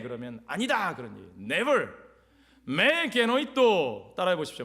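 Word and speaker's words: μὴ γένοιτο: 메 게노이토 따라해 보십시오.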